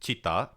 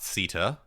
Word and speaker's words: citta: expresses as one's soul bodhicitta it is pronounced chitta uh not Sitta as he mispronounced in his opening video.